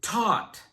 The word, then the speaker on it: taught: Moving on to taught. This is the past tense of the verb teach. It begins and ends with the sound t, and the middle sound is ah. The GH is silent.